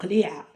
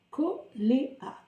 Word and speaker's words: Koléa: En arabe, on dit Qli'a. Qli'a. Donc, en français, on va se prononcer Koléa.